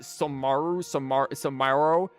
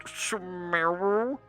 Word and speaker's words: Sumeru: accidentally said, like, what, Samaro, or whatever. He just came over to be like, actually, it's pronounced Sumeru.